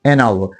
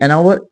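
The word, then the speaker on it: hour: this क vowel sound लेकिन जैसे कहते हैं एनवर वो नोट करें कि एनवर एच ओ यू आर इसमें जो स्टार्ट ई एच से हुआ है ये वावल तो अल्फाबेट नहीं है लेकिन साउंड जो है वो जो वल की है इसलिए एनवर कहेंगे एन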